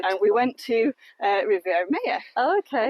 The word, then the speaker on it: Maya: And we went to Riviera Maya. Oh, okay. Or Maya, some people pronounce it, which is where our daughter's name comes from.